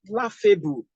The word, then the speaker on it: laughable: So I will have laughable. Laughable. Now that I have laughable, this is a suffix. Which syllable am I going to stress? I will stress this, laugh.